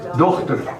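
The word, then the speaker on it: Dochter: do not a doctor CH is not pronounced K it's doctor doct doct doct yes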